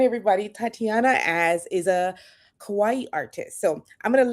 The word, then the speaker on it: kawaii: And if you say kawaii, it means cute. I did not know that. Okay. So, say say cute for me. Kawawaii. So, the accent goes on the last syllable.